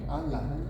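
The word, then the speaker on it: أن لا: pakai ada anla anla tulisannya anla bacanya nya alla alla iya jadi an nunnya gak disebut kalau tidak harusnya memang begitu gak disebut lagi allal itu termasuk orang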